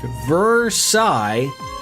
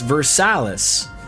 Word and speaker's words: Versailles: They have Versailus, Vers Versilus, Ohio, which correctly pronounced should sound like Versailles, but in Ohio it's Versalis.